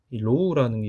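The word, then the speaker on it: ρ: 그래서 그걸 한번 살펴보자면 공무 그 상관계수 같은 경우에는 어떻게 정의를 하냐 하면이 로우라는게 있거든요. 이렇게 발음하는데 이게 이렇게 정의합니다.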